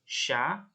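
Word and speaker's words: chat: Tapi ini cara bacanya sha dan xian. Sha itu kucing, xian itu anjing. Sha ya. Jadi C dan H, C dan H itu cara bacanya sh, sha sama xian.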